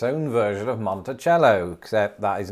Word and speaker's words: Monticello: the place in arkansas which says that it's pronounced monticello we're on the final one i have five